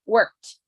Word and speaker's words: worked: Include the T. Worked? Worked. No vibration.